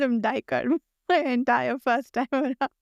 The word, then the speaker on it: Duiker: I usually call him Duiker, but I know the audiobook says Diker, and Oh, it gets interesting. stuck in my head. But Oh, I've heard okay. Erikson call him Duiker. So but yeah, audiobook pronunciations can stick in your head, even when